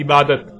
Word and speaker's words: عبادت: لکھا جاتا ہے عبادہ، اور جب عربی لہجے میں اس لفظ کو پڑھا جاتا ہے تو تیز ساکت ہو کر ہے کی آواز میں بدل جاتی ہے، یعنی اسے عبادہ پڑھا یا بولا جائے گا۔ عربی کا لفظ عبادہ جب اردو میں شامل ہوا تو اسے عربی کی بجائے اردو لہجے میں تے کے ساتھ بولا گیا اور بولا جاتا ہے، یعنی عبادت۔ اب آتے ہیں اس